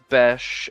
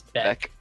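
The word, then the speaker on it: Bech: rotation of like Jack Bes and Dante Thornton. Junior, I think it's Jack Beck. I think it's Beck. It's spelled ch, but it's like Zack with a ch.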